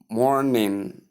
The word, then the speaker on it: morning: It's simply anga, and the same occurs in morning. In morning, so you call it morning, not morning, not n, but anga at the ending.